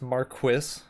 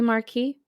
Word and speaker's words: marquis: it in the book it's marquis which is wrong yeah shouldn't it be marquee yeah that's what i